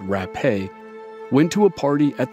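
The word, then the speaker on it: Rappe: named Virginia rap though she added an e to the end of her last name and pronounced it rape went to a party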